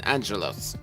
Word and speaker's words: Angelos: That's the Greek pronunciation, Angelos.